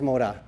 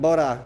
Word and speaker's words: boda: I think it's moda. No? Okay. Una boda. What moda? That's what I said. Boda. Boda, with a B.